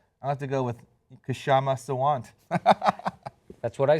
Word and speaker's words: Kshama Sawant: I'll pronounce it for you. See it? Yeah, I'll have to go with Kshama Sawant. That's what I said. Kshama Sawant.